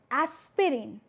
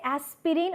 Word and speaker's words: aspirin: So, if you pronounce word aspirin, do you say aspirin or it is aspirin?